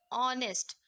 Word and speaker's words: honest: H consonant है और H silent भी है, और इनका जो प्रोनाउंसिएशन है वो आवर, ऑनेस्ट, आ ओ.